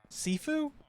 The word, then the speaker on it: Sifu: what's wrong my man what happened equals seafood sifu like food or seafood is that like that's how you pronounce it all right seafood my hat i'm stupid so it's pronounced sifu okay well what happened i know it's a